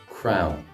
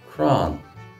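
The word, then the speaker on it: crann: Just a note on the pronunciation of this Irish word for tree, crown. I'm from Munster, so I pronounce it as we do in Munster, crown. If you go to Connacht, you will hear it pronounced cran.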